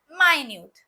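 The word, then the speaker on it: minute: Number one है मिनट। ठीक है? जैसे कि 1 घंटे में 60 मिनट होते हैं। There are 60 मिनट्स इन an hour. Number two pronunciation है माइन्यूट।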